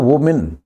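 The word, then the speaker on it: women: स्त्रियां, देखो एक स्त्री को बोलते हैं वुमेन, छोटी की मात्रा है वुमेन, ज्यादा स्त्रियां होंगी तो विमेन, छोटी ई की मात्रा है विमेन।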